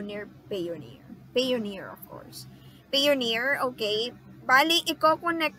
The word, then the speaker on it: Payoneer: I thought on Payoneer or how do you pronounce that are you near Payoneer Payoneer of course Payoneer okay finally you Coco next motion you straight